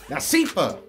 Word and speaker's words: Nashiefah: It's Nashiefah.